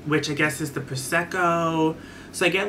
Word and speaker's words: prosecco: peach sparkling proscico girl someone corrected me i'm saying proshecko but it's prosecco i think i still